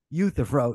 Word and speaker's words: Euthyphro: And they call it the horns of, I don't know how to pronounce the name. You probably do. How do you say it? Euthyphro? Euthyphro, yeah.